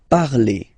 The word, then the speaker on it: parlez: Remember, a Z, when you combine them together, you get the sound E. Vous parlez, all right?